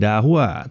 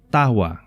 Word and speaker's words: Dahua: adalah dahwa oh salah Caranya bukan dakwah tapi cara membacanya adalah tahwa ya ini produsen perangkat